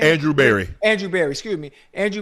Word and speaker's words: Andrew Berry: this not being my pick, this is brother Drew Berry, right? Is that how you say his name? Andrew Berry.